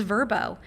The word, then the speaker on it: Vrbo: Um I spell out VRBO, by the way, and then I watch commercials and they call themselves Verbo.